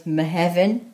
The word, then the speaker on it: Mehefin: Right, June in Welsh is spelt, is said as Mehefin, spelt M-E-H-E-F-I-N.